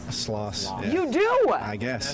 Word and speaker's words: Stanislaus: Now, do you say Stanislaw or Stanislaus? Sloss. Yeah. You do? I guess, yeah. Okay. There is an S on the end, but, you know, some would say the S is silent.